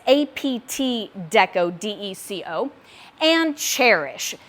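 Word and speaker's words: Chairish: apt Deco Deco and cherish spelled like the chair you sit in c-h-a-i-r and then it's a play on love and cherish so c-h-a-i-r-i-s-h um they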